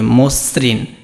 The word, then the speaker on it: মসৃণ: মসৃণকে এরকম, এটা কিন্তু এইভাবে না, এটা হবে কি মসৃণ। এটা কিভাবে উচ্চারণ হবে? মসৃণ, এটা কিন্তু এইভাবে উচ্চারণ হবে, এই যে মসৃণ, ঠিক সেইভাবেই তোমাকে লিখতে হবে।